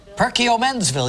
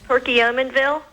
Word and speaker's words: Perkiomenville: Elaine Hoffman from, let's see, how do you pronounce this? Perkiomenville. Perkiomenville, yeah, Menville. Perkiomenville from Pennsylvania, yes. Hi, Elaine. Hi, Regis. How do you pronounce that town that you live in? Perkiomenville.